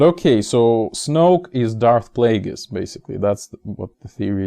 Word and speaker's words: Plagueis: actually darth plagueis and Plagueis William at Google that it's written like it's spelled like plague and is so Plagueis it's a single word